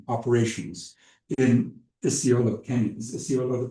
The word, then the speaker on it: Isiolo: Is Isiolo the pronunciation?